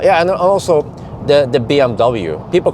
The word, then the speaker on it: BMW: but people call it bmw uh but it's it's actually in in german again the w is pronounced as a v sound so they just say bmv yeah and it okay